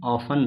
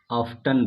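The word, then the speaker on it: often: देखिए इसको हम लोग दो तरीके से प्रोनाउंस करते हैं, हम लोग इसको इस तरह से ऑफन भी कहते हैं, या फिर हम लोग इसको ऑफ्टन भी कहते हैं।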